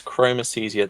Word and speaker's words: chromesthesia: you have the name of the condition is chromicesia that is if I can spell it it's c h r o m e